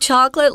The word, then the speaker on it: chocolate: There are two pronunciations. You can say chocolate or chocolate. And in fact, Cambridge only has one. It's chocolate. Chocolate. Yeah, just two syllables.